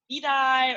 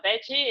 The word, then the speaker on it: Bedy: coming from but uh veggie is a pronunciation from Brazil so when like if you speak Portuguese especially the Brazilian Portuguese, you would know all the D and the G has the same sound.